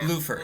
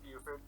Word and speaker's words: Buford: One of the Bluford. It's Buford.